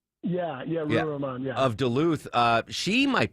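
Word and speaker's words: Ruwa Romman: State Rep Ruha Rahman, am I pronouncing that correctly? Yeah, Ruha Rahman, yeah.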